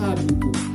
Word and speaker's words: hábito: Velho, vinhos, temos dígrafo, LH, NH, e o hábito. O H aqui, ele não é fonema.